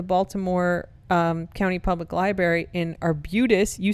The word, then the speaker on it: Arbutus: I have one on campus on November 30th, and I have one at the Baltimore County Public Library in Arbutus.